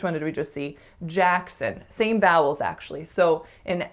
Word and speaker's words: Jackson: The first syllable is the winner, and it has to be tense, a. The second syllable is a schwas, Jackson. So make sure you don't say son or son or son, because it's really sun, really, really short.